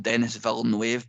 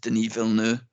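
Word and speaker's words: Villeneuve: I love didn't um most people with low intellect will call him Dennis V wave but is actually pronounced denu um I love the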